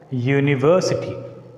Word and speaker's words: university: And take the last word, university, university, university. Here we need to put a stress on V, university. Here we are pronouncing, we are stressing the syllable V.